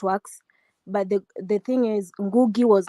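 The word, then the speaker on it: Ngũgĩ: How do you pronounce the name? Ngugi? Ngugi. Ngugi. Uh-huh. No, Ngugi. Ngugi.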